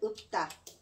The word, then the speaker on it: 읊다: 자, 얘 발음은 둘 중에 하나만 발음하는 게 원칙이야. 받침, 리을, 피읍이 왔을 때 둘 다 발음하는 방식은 없어요. 받침은 무조건 소리 하나. 소리 하나예요. 그리고 그 중에서 7개. 7개만 발음될 수 있어. 그럼 리을로 발음할까요? 피읍으로 발음될까요? 피읍은 비읍으로 소리 난다고 했잖아. 리을은 사라지고 피읍으로만 발음하는 거야.